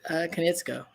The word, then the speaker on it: Konietzko: Brian Konietzko.